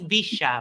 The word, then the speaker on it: Villa: happens on MDD because you Americans can't pronounce the double L sound like we do. So it's Villa, Villa.